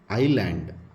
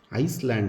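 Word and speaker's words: island: getting silent ಇಲ್ಲಿ ನೋಡಿ ಐಲ್ಯಾಂಡ್ ಐಸ್ಲ್ಯಾಂಡ್ ಅಲ್ಲ ಇದು ಎಸ್ ಇಸ್ ಗೆಟ್ಟಿಂಗ್ ಸೈಲೆಂಟ್ ಅಂದ್ರೆ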